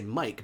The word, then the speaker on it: mic: Mick gotta love that Mick I love how you call it a Mick it's just funny because we normally say Mike microphone not microphone but people do pronounce it microphone too so I don't